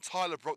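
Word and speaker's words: Bruck: Must add that Dan Brook and Tyler Brook, their certain names are spelled differently, so they're definitely not related.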